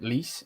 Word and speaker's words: Lecce: And then is it Lis? Is that how you say it? Lis? Lecce.